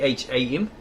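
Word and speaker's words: Kham: K H A M. It's Ham. Don't pronounce the K.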